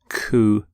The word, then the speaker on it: coup: of cou you don't say the P you don't sound the P at the end cou here's the your next